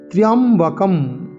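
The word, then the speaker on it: ত্র্যম্বকম্: পরবর্তীকালে মার্কণ্ডেয় পুরাণ নামে, তার নামেই খ্যাতি লাভ করল। এই হচ্ছে মহামৃত্যুঞ্জয় মন্ত্রের মূল তাৎপর্য। আমরা এখন শব্দগুলো জানব। ত্র্যম্বকম, ত্র্যম্বকম, ত্র্য জফলা, ত্রা, এরম আকার উচ্চারণ করব না।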